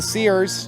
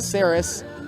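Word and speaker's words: Serres: It'll bring up Kyle Sears, not Kyle Saris. Kyle Sears is spelled S-E-R-R-E-S. That's how he spells his last name.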